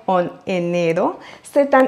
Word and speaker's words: enero: Et le R en enero, c'est un R simple, donc pas fort, car il est au milieu du mot. Enero. Et pour perfectionner votre prononciation, n'oubliez pas d'accentuer sur le deuxième E, enero.